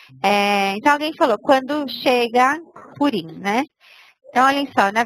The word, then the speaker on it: Purim: a pronúncia certa é Purim ou Purim? Purim. Ok. Não, mas... Purim, não, pera. Purim. Purim. Não, Purim. É que, na verdade, depende um pouco, mas Purim.